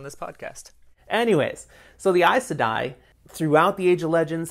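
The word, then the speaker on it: Aes Sedai: name yet all right these are isadai is that how you say it that's how i say it okay because you look at it and it doesn't sound like it looks a e s and then s-e-d-a-i so i sudden so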